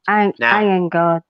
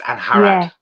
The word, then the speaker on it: Angharad: Angharad. It's a silent G. It's Angharad. Yeah, Angharad.